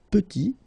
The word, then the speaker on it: petit: And then we get petit. Il est petit, elle est petite. Okay, exactly the same idea. Final T is not pronounced, and then when you